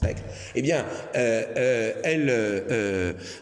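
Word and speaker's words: Necker: de Stal, vous savez la fille de Necre, hein Neer, mais Necre, ça se prononce Necre.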